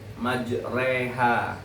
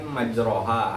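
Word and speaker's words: مجراها: Contoh pelafalan kata dari majreha. Majreha dalam riwayat Hafz pada riwayat Imam Hamzah huruf alif pada kata annar itu dibaca condong ke e atau ke i. Ner berarti ya yang tadi yang ini kan majroha aslinya tuh. Jadi dibacanya jadi majreha.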